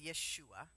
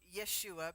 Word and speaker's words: Yeshua: need to know that the two syllables Jesus are a westernization of his actual name which was Yeshua so Yeshua because we had Western